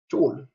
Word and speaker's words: chol: C I know in English work as K, and sometimes like school, sometimes like choir, but in Nuer it only means shell. The way you pronounce it with share.